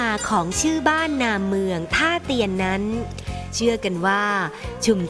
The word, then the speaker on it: ท่าเตียน: พำนัก พัก อาศัย และ ต่อ มา คน ไทย ก็ เรียก ชื่อ เพี้ยน ไป จาก ฮาเตียน กลาย เป็น การ ออก เสียง สำเนียง แบบ ไทย ๆ ว่า ท่า เตียน ด เช ที่ เรียก